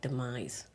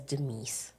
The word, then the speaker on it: Demise: demise McMullen the word the name demise is is pronounced like demise lead purposely says deise he does I mean that's just it's it's a lead attorney thing she just called him